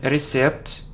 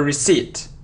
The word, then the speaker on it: receipt: So, it isn't recept or receipt. No. So, it's a receipt, receipt. Okay? Very good. So, decide, honest, pronunciation, iron, virus, answer, choose, Wednesday, news, receipt.